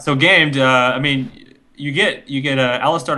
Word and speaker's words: Gamed: initiation and lockdown on game.d. So or game. How do you say it? Game D or do you say game? It's just gamed. Gamed. Dot D is obviously the Germany bit.